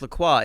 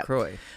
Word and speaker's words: La Croix: Lacroy um where it's like you want is Lacroy obviously it's it's pronounced Laqua in French but I think the brand calls itself Lroy they call themselves Lacroy but I I viewed Pandora as that where